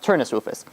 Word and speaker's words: Turnus Rufus: In the Jewish sources, it's pronounced Turnus Rufus.